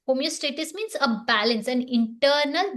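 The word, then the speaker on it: homeostasis: So the body constantly seeks homeostatis. Homeostatis means a balance, an internal balance. Have I pronounced it right this time? Homeostatis. Stasis. Stasis. Thank you.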